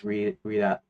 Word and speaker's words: Redot: How could pronounce it as redot, as in regeneration, and dot as in dot com. Now the way I say it is redot as in red dot, which is the correct one.